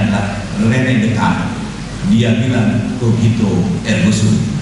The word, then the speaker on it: René Descartes: kita sebut sebagai René Descartes, yang benar cara bacanya adalah René Descartes.